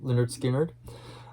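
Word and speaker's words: Lynyrd Skynyrd: one because like i said it's pretty depressing leonard skynyrd their debut album pronounced leonard skinner um god has some southern rock in here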